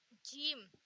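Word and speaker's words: ج: जीम हम हिंदी में pronounce करते हैं जा से। हम इसे प्रोनाउंस करेंगे जा से, और इसे तो हम वही जे से, जो नॉर्मल जे होता है इंग्लिश का, उससे।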